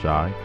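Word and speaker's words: Shai: possibly could but but Shea even though he says pronounced shy has just been too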